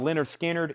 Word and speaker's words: Lynyrd Skynyrd: matter to me and then high bid on Leonard Skynyrd is Jordan at 30 dollars Jordan's at thirty dollars on pronounced Lynyrd Skynyrd let me grab a new